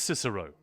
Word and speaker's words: Cicero: Should it be pronounced Cicero or Kickaro? Um, well, the character in Skyrim says, "Oh, Cicero," doesn't he? So, I think I'm going to assume he knows how to pronounce his own name. But yeah, it's it's Cicero.